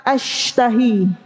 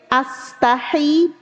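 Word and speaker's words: أشتهي: Hati-hati nih. Kalau salah makhraj, salah huruf, beda arti. Syinnya diganti sin. As kalau ini kan as kalau diganti sin astahi H-nya jadi H kecil ini kan H-nya H besar ya kata Ibu H besar kalau diganti astahi aku malu artinya sesungguhnya aku malu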